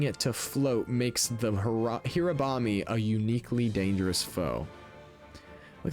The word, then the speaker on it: Hirabami: It's Hirabami, not Hirambe. Ugh, I'm stupid.